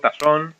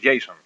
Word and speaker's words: JSON: en este vídeo los objetos Jon o JSON, como lo queráis pronunciar, porque yo lo he oído de varias formas diferentes, ¿no? Yo personalmente me gusta llamarlos Jason.